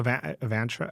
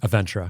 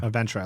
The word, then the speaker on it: Aventra: Well, let's make So, Avantra, how do you say it? Aventra. Aventra.